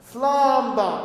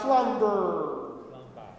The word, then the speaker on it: slumber: You don't sing R. Slumba. Slumba, not slumber.